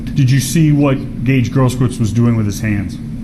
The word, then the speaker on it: Grosskreutz: Grosskreutz.